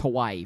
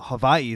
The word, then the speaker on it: Hawaii: like this, and that's Hawaii for the uh No, no. Well, no. Havi is actually how it's pronounced.